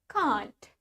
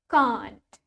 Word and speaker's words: can't: In British English, we pronounce it as can't. Can't. Let's try it with me. Can't. Can't. While in American English, sedangkan di bahasa Inggrisnya orang Amerika, we say it can't.